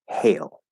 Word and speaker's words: hail: spell the same thing if the the e was not there then it would be hal with a because an a by itself is usually the fourth vowel ah but you add that silent e and it will usually not always but you usually turn into a so they're both l colored a hail hail um can you compare